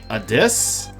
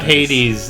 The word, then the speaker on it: Hades: our local resident expert he says that Hades should be pronounced a disc does it help saying it right a disc the ancient Greek god of the underworld it's not Hades as in the gage god of the world though it's hy-wyd yeah